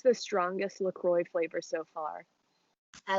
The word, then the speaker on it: LaCroix: be like a prisoner i was always saying lacroix but the website actually was saying like it's supposed to rhyme with enjoy so it's lacroix i don't know um